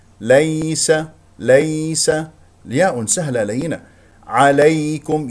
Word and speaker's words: عليكم: ليس ياء سهله لينه عليكم ياء ايضا سهله لينه ياء ساكنه قبلها مفتوح والكاف لا تفخمه تقول عليكم الكاف مرققه عليكم هنا ميم مظهره عليكم